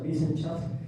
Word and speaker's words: Wissenschaft: Y la otra es esta palabra en alemán que significa, se pronuncia Wissenschaft, que es algo así como saber o ciencia en el sentido mayúsculo de la palabra, en el sentido fuerte de la palabra.